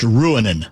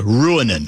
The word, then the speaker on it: Ruohonen: I think the name is pronounced Ruohonen, I'm told. Ruohonen. Okay. Ruohonen is his last name.